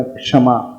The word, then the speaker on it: क्षमा: यानी जब हम उसका उच्चारण करेंगे क्षमा का, तो अंदर से पहले क का देखना उच्चारण अवश्य आएगा, क्षमा। क्षमा नहीं, क्षमा। हाँ, क्षमा। पहले हम क का उच्चारण कर रहे हैं।